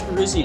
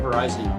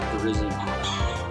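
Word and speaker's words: Virizion: got is this shiny Verizion or technically it's Verizion I keep following a Verizon but I believe it has been officially confirmed it's pronounced Verizion either way it's cool I did a raid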